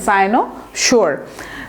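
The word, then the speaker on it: cynosure: এবং তারপরে কি হলো, সাইনোসোর, আমরা বলতে পারি, এটা উচ্চারণটা দেখেন, সাইনোসোর।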